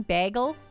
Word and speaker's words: bagel: best to do that bagel is a long a sound like bae well isn't that what i'm doing bagel bagel bagel bagel isn't that i think i'm saying it correctly bae down by the bay bagel that's what